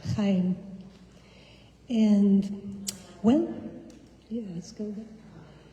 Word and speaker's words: Jaén: It's Jaén. It's the name of a town in Spain. Do you like olive oil? That's where the olive oil comes from, Jaén.